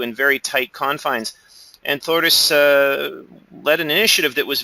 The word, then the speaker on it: Þórdís: So maybe you are having troubles with it, but it's actually, like he said, Þórdís. It's actually spelled the thunder god Thor.